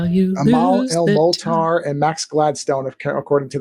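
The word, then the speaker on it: Amal El-Mohtar: Amal El Molar and Max Gladstone, according to the chat, if I'm pronouncing those correctly, Amal El Molar.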